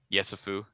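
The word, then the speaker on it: Yesufu: Joe Yusefu from, or am I pronouncing that right? Yusefu.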